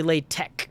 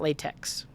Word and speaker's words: LaTeX: the word uh enough to know that it's pronounced that way but it's good to know this is actually lay tech not latex latex um and pomodoro only has one r